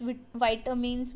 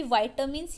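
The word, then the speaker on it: vitamins: जो major components होते हैं जैसे कार्बोहाइड्रेट हो गया, प्रोटीन, फैट्स, विटामिन्स, मिनरल्स। जो हिंदी होता है, हिंदी में हम विटामिन बोलते हैं, लेकिन इंग्लिश में इसकी प्रोनाउंसिएशन विटामिन की वाइटामिन्स या विटामिन्स होती है।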